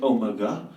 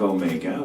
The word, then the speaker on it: Omega: but there's one where he calls it project Omega instead of Omega which is an old doctor reference I fought for that pronunciation calling was like no wait Omega he's not British I'm like it's a